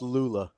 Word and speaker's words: Lulla: Pronounced Lulla. My bad.